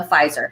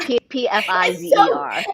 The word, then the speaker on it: Pfizer: The P is silent.